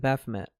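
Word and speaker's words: Baphomet: I went to Matt Orin's presentation on the Baffomet or Baffome, whatever your preferred pronunciation is.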